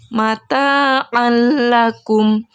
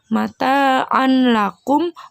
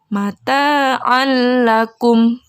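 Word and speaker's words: متاعا لكم: lam jadi cara bacanya mata alaikum Jadi bukan mata on lakum bukan mata and lakum tidak boleh ada dengungnya juga jadi cara bacanya mata alakum Kemudian pada contoh yang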